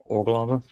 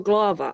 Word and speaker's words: Urglaawe: orava or gloava. I will get this down. You're getting there. or I tend to put the the stress on the u that the first syllable is usually stressed or so or um